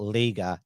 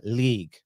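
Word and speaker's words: Lega: It's not, it's spelled L-E-G-A, but it's not Liga, it's League, I think.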